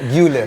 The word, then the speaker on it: Arda Güler: Arda Galer. Galer ya? Iya. Galer apa Guler ya bacanya? Garok leher. Oh, Galer. Güler.